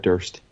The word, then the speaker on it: Durst: no it's David Fred Durst n Fred dur is the worst Chocolate Starfish it's so fitting that his name rhymes with worst never got into that